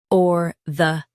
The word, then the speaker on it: orthopaedic: or-tho-pe-dic orthopedic Stress P and keep dic light. It's smooth. or-tho-pe-dic orthopedic Stress P and keep dic light. It's smooth. or-tho-pe-dic orthopedic Stress P and keep dic light.